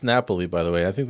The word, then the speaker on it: Napoli: out check this out Napoli there you go that's the Italian pronunciation he sounded really pissed